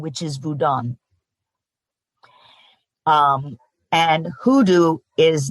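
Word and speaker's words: Vodou: confuse hudo with voodoo voodoo is actually an incorrect pronunciation of the Haitian religion which is vodan um and hudo is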